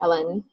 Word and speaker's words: Ellen: It's like Helen, but with some, I'm not sure what the name for the bar, but so it's pronounced like the letters LN, but quickly, Ellen.